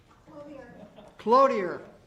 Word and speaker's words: Cloutier: Do you say this name Clouthier or Cloutier, or how do they like to pronounce their name? Cloutier. Cloutier. Thank you.